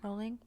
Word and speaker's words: Rowling: example jk rowling oh how do you say it rolling or rallying i say i say rowling i say rolling but i don't care you say route jake